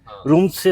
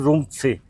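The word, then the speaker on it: Rumtse: इसकी स्पेलिंग है आर यू एम टी एस ई हां इनका प्रोनाउंसिएशन का है। रूम से होगा ना रूम से।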